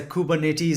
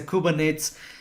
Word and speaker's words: Kubernetes: Some people say Kubernetes, some people say Kubernetes. It depends on pronunciation.